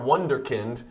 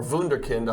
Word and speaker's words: Wunderkind: for Nikola jokic per wonderkind or wunderkind I think is how they would pronounce it in Germany bgs9 Four Color patch